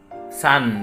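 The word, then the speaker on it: さん: Kemudian ada tulisannya di sini san ya, san. Biasa saya bacanya sang ya.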